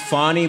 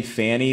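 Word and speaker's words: Fani: what's her name we her name is pronounced fonnie but I like to name Fanny because of what happened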